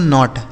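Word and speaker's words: knot: तो के एन ओ टी इसे पढ़ेंगे दोस्तों नॉट।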